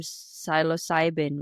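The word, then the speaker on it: psilocybin: amazing so I think you mentioned the term silos cybin right am I producing it correctly absolutely pronouncing okay yeah so so this this type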